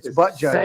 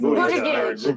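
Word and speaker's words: Buttigieg: It's Butt Judge. Say it right. It's booty gig.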